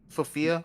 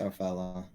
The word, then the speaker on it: Sophella: You know, well, Sophia. That's not her name. How you say it? Sophella. Sophella.